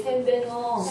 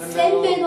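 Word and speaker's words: Сайн байна уу: 셈베노. 네. 센베노 아니에요. 센베노. 근데 한국 사람들은 발음 강한 걸 좋아해서 센베노라고 많이 하는데 이해 못해요.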